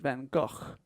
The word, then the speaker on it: Gogh: So his real name is Vincent Van Gogh, like a k sound at the end. But then no one says that in English. So more people say Gough than Go. So I think Gough is more correct.